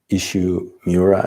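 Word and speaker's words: Isshu Miura: the zen koan with ruth fuller sasaki and ishu miura is how you say his name and also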